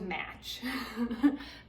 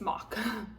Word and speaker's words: Mach: the mock fives and this is spelled m-a-c-h and so I used to think it was match match five it's mock all five so just in case you want a little pronunciation Also let's throw it